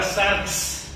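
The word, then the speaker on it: σάρξ: Es la palabra sarx.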